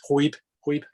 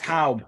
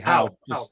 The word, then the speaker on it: Haub: That used to be in the collection of a very famous German philatelist, Huib, that's how you say his name, and I think he paid something like... It's Haub, actually. Haub.